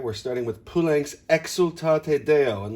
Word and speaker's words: Exultate: And then we want to pucker the lips on the xul, exultate Deo. Accent de, round the lips on o, and strictly observe the eighth note that's tied.